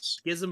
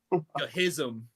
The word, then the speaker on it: Schism: it all right is it Schism yes yes Schism of that's how you say it yeah oh I pronounced it wrong so many times gism I said scasm uh it is a legendary chaos resource J